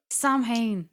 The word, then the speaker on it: Samhain: So anybody who's listening who is of Irish descent and knows Just say it in an Irish accent. Samhain. They love that. Oh, to be sure, Go up to an Irish Samhain.